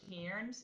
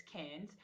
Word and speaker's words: Cairns: cans or 70.3 cans they say kieran's but it's cairns c-a-i-r-n-s in australia like anne's is like